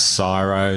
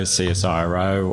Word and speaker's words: CSIRO: much matthew so yeah CSIRO which you can pronounce syro CSI row or commonwealth scientific and